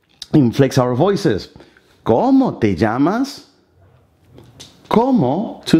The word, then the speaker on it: llamas: ¿Cómo te llamas? ¿Cómo? Two syllables. ¿Te llamas? The double L in the Spanish sounds like z, z.